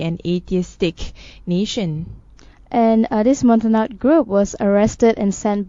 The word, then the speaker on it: Montagnards: Regarding on the Christian Montagnard, did I pronounce it correctly? Montagnards.